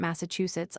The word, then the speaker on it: Massachusetts: One of my English acquaintances tells me that he was taught at school to accent Massachusetts on the second syllable.